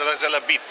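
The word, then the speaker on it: رأس العبد: And how you find this on Google, you type in Ras El Abed. Ras El Abed. Yeah, that's it. That's what you type on Google. Ras El Abed. But it's actually pronounced Ras El Abid, if I'm correct.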